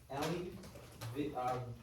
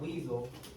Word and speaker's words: Elie Wiesel: So we are talking about, Perils of Indifference, written by Elie Wiesel. Elie Wiesel. That's how you pronounce his name, Elie Wiesel. It's not Weasel, Elie Wiesel.